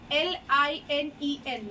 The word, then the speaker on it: linen: see linen the term l-i-n-e-n linen somewhere it is pronounced as Lenin also this is the